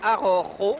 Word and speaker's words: Araujo: Alors je reprendrai cet homme en noir pour vous dire que c'est Al Arrojo, avec la Rota, qui se prononce du fond de la gorge, qui est, paraît-il, vainqueur de Jiménez.